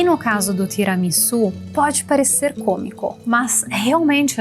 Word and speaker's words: tiramisu: O fato é que precisa pronunciar tiramisu.